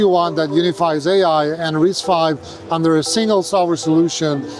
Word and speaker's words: RISC-V: that unifies AI and risk 5 under a single software solution. So it's radically going to change the way we do AI going forward. Wow. Engineers is pronounced risk 5 not risk B.